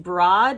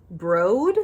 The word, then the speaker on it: Broad: Yas tell me that this actually isn't pronounced broad it's pronounced broad because of I don't know it's like named after a museum or something anyway I had this